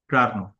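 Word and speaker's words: Carnot: क्या पढ़े इस बच्चों अगर फ्रेंच नेम है तो टी अगर लास्ट में है तो टी साइलेंट रहेगा अब बताइए साइलेंट र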